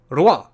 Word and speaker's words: Rouen: to say it, and the pronunciation from a French guy was Rouen. So I find it a little bit interesting. What happened to the, the O, U, E, and N? I mean, I can hear the R, but I'm sort of missing out the other syllables.